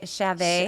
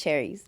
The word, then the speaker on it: Chairez: your last name um they they call it cherries Chavez oh I get Chavez a lot oh God I am not a Chavez I am a child yeah it's cute in Spanish it's and in English it's cherries okay it's like it's